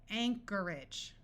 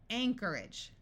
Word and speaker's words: Anchorage: some more words where CH sounds like the letter k Anarchy Anarchy Alchemy Alchemy Anchorage notice that the o r takes on a muffled R sound and AG g at the end of a word rather than having a clear long a sound and sounding like age tends to take on an edge sound Anchorage that's a city in